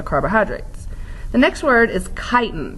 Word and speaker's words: chitin: the next word is chitin pronounce it tighten with the K don't pronounce the CH or you might get in trouble so chitin this isn't